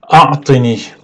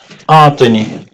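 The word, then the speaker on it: أعطني: A'tini.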